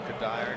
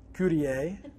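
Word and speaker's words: Cuddyer: the last name, and it is often mispronounced. I've been French, Courtier. I've been Spanish with like courier or something, you know. I've been Cudger. I've been just about everything you can do.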